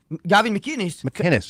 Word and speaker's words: McInnes: McInnes. It's a hard C. McInnes? Yeah, there's no G's.